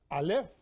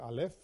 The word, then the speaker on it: Aleph: That's why the letter Aleph is silent. Means no sound, no physical sound.